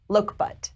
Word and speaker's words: Lokebutt: and so the code word it's exclamation point look butt and loka butt is spelled l-o-k-e-b-u-t-t his name is look what his